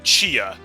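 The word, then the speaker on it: Chie: So Toko just pronounced her name Chia, like Chia Pet.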